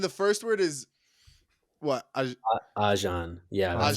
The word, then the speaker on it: Ajahn: Ajan. Yeah, that's like Ajahn.